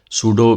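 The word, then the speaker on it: pseudo: हम रख देते हैं सूडो पी एस य डीओ डॉट एचटीएमएल इसमें पी साइलेंट होता है एचटीएमएल का डॉक्यूमेंट बनाया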